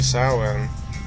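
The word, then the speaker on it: Samhain: Um and then finally, sin. Um though it's spelled Sam Hayne, an ancient Druid festival modernized to Halloween.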